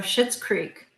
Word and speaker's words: Schitt's Creek: yeah it's um so shitz Creek so it's not spelled like T it's s c h t t yes so and it's